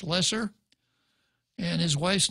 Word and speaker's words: Loesser: Loesser wrote the song ello e SS er pronounced lessor and his wife's name